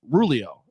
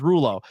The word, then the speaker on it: Rulo: think about it uh rulio uh he's a catchpoint student did I say no Rulo Rulo I I say rulio because I don't know why my brain does it but it's Rulo um and I said